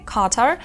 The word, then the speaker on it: Qatar: звуків Queen equal але є випадки як наприклад у назві країни qatar де вона звучить як к а далі дуже цікава